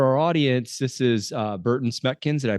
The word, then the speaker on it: Berten Smekens: So for our audience, this is uh Burton Smeckkins. Did I pronounce that correctly?